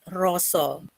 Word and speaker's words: rasa: The deep feeling we write in Bahasa Indonesia is rasa, but in Javanese language, we pronounce it with roso.